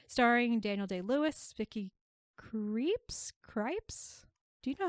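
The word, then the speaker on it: Krieps: to him T sorry do you have the pronunciation yes creeps okay cool according to the internet that's what it says I trust the internet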